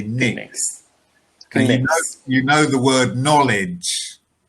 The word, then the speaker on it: Knicks: so well done um interestingly with the knicks the k is silent so in their name we don't say clicks we just say nix you know the word